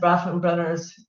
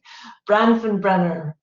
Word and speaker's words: Bronfenbrenner: It talks about the application of the theory, which again is Bronfenbrenner's. It looks like this. It took me a year to learn how to say this name. It's so big. Bronfenbrenner.